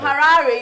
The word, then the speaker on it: Harare: In Harare, yeah. You have to say it like the Zimbabwean, Harare.